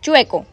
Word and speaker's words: chueco: No se dice chuleco, se dice chueco. Tampoco se dice chueco. Chueco, ajá. Pero aquí normalmente lo decimos así, chueco.